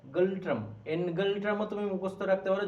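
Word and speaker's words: Ngultrum: শোনেইনি হাফজ ঠিক আছে এর এনটা উজ্জ্ব থাকে উচ্চারণ হয় গালট্রাম গল্ট্রাম এনগালট্রামও তুমি মুখস্ত রাখতে পারো যদি তোমার স্পেলিং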